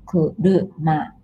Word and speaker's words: 車: We don't have ra, re, ru in Japanese, so this is kuruma.